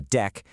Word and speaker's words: deque: A deck, and you pronounce it deck, like a deck of cards, stands for double-ended queue.